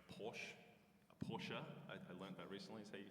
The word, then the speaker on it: Porsche: Uh, and one of the cars is is like a, you know, like a Porsche, a Porsche. I learned that recently is how you pronounce that name.